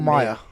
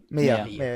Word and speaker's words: Mia: Am I saying it right? Mia or Maya? Mia. Definitely Yeah, Mia. big If you shout. want to Maya if you want to annoy her.